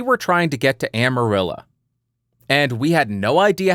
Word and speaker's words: Amarillo: Now you know if you ever go to Texas, it's not Amarillo, it's Amarillo. Say it right. Speak like the natives.